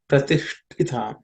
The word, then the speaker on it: pratishtitam: This ush is cerebral ta. It's the second ta in the ta varga, so it has to aspirate. Pratishtitam.